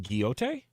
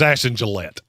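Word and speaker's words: Ashton Gillotte: Ashton Giote? It's Ashton Gillette. Gillette. That's yes. Not how they spell Gillette.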